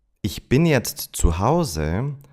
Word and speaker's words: jetzt: Some other words where the T at the end disappears when they're pronounced fast are jetzt, bist, and ist. Ich bin jetzt zu Hause sounds more like Ich bin jetzt zu Hause.